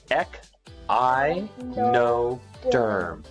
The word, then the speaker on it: Echinoderm: you pronounce this them it's ech I know derm I know derm right